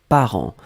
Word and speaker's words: parents: Donc le deuxième mot, c'était parent. Parent, on l'écrit au pluriel ici. P-A-R-E-N-T-S. D'accord? Parent, on ne prononce pas le T, on ne prononce pas le S, comme d'habitude.